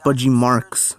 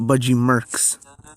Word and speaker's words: Budgie Marx: It's pronounced Budgie Marx, not Budgie Marx.